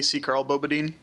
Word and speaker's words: Ckarl_Bobadine: have our other guest Carl badine I assume that's how you pronounce it is that right either C's supposed to be silent but people call me c Carl badine I like Carl because